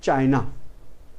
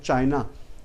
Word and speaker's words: China: Then it is obviously our neighbor and very, very ancient nation in the world, that is China. We are wrongly pronouncing as China. The pronunciation is Chin.